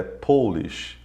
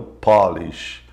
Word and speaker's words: Polish: A forma de se escrever é a mesma, mas a pronúncia de polonês é Polish e não Polish. A mesma palavra, mas com uma entonação diferente, tem um significado diferente.